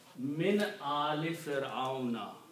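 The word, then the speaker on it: من آل فرعون: So you will pronounce min ali Fir'auna.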